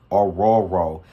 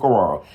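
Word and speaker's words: Orhorhoro: Now, he said you do not pronounce the H's in his last name, so I pronounced it correctly. So if you need to know how to pronounce it, it's Rook Ororo.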